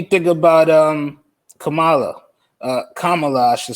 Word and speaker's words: Kamala: what do you think about um kamala uh kamala i should say let me not mispronounce uh yeah i like trump i mean i think uh bar called her camilla today yeah kamala is awesome uh a black